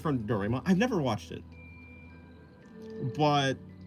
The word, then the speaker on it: Doraemon: Okay, Ra. So Doraemon. Doraemon. Yeah, okay, so like Ra. Oh, right. Yeah, that's how you say it, I guess. Yeah, it's an A and then E.